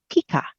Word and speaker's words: Pica: And so this potato, pronounced pica.